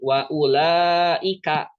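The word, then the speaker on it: وأولئك: Itu artinya dia tidak dibaca. Wawunya tidak dibaca. Jadi bacanya itu bukan kayak gini. Nah, nggak kayak gitu. Wa ulaika, tapi wa ulaika. Karena apa? Karena sukunnya bulat.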